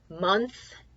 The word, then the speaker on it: month: that that's us down month kind of like the words other and another is tricky because the Oh sounds like a you instead of an awesome doesn't